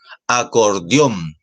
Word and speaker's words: acordeón: Ejemplo, acordeón. Acordeón. Acordeón. Acordeón. ¿Cierto? Ahí la fuerza de voz está en on y como termina en N, se tilda.